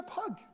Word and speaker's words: Pugh: And I remember my previous travels in Europe, sometimes the spelling of my surname, P-U-G-H, Pugh, a good Welsh name, would sometimes be mistakenly pronounced as Pug.